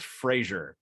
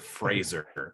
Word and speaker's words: Frasier: you watching Fraser okay it's pronounced Frasier not Fraser but his producer Ross